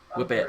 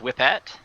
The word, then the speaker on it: Whipette: I think it's going to be pronounced Whippet.